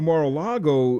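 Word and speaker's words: Mar-a-Lago: His Navy Seal team was sent to car mor car I keep mispronouncing his estate in Florida. Oh yeah Maraago. So he gets sent to Mara Lago.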